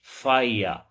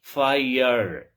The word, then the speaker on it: fire: British English, fire. American English, fire. Because in British English, the final R is not usually pronounced if it is not followed by a vowel sound.